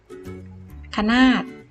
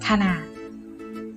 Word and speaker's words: ขนาด: ไม่ อ่าน ผัด ขนาด คะนาด ต้อง อ่าน ขนาด ถ้า ไม่ มี หอ หีบ จะ อ่าน ว่า ขะ นาด แต่ พอ มี เขา